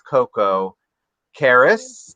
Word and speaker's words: Koko Karras: And obviously, I can tell this is Karlette, otherwise known as Koko Karras.